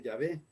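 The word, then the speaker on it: Yavé: es voy a ver en inglés ya web pero en español como traducido al español se puede decir es llave aunque latina guisado me pusieron de nombre de jehová habría que ver de acuerdo con esa traducción prefieren llamarle ya ve pero al final dios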